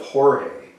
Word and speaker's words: Jorge: got the legend of horribly you may say the legend of George but that's not really how to pronounce the legend of Jorge which was lime leaf